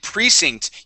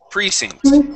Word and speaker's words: precinct: And precinct, you are very close with the pronunciation here. The accent goes at the very beginning of the word, right here on precinct.